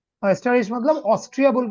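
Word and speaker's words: Österreich: ठीक है ओके ठीक है अभी सुनेंगे ऑस्टराइज ऑस्टराइज मतलब ऑस्ट्रिया बोल के जो देश है ना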